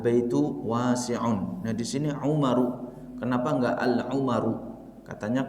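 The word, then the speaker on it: عُمَرُ: Umaru. Ya. Maka kita tidak boleh membaca Umarun, tidak boleh. Salah dia kalau membaca Umarun atau membaca Al-Umaru. Salah.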